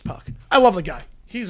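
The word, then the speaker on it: Puk: AJ Puck is pronounced Puck.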